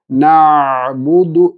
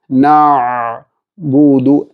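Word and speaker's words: نَعْبُدُ: നാവിൻ്റെ ഉൾഭാഗം താഴേക്ക് താഴ്ന്നിരിക്കേണ്ടെന്ന ആവശ്യം ഐന് ഉണ്ട്.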